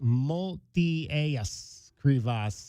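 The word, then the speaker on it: Motiejus Krivas: Multias Creas is how you pronounce his full name.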